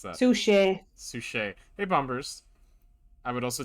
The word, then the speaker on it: Suchet: Where's David's Oh, how do you pronounce that? Suchet.